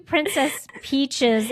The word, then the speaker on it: Princess Peach: Princess Peaches. Go get her. You didn't even say it right. It's Princess Peach.